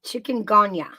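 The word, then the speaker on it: chikungunya: go again what's this virus uh Mouse y it's spelled c h i u guu n y a chicken GAA so it's it's a mosquito born virus uhhuh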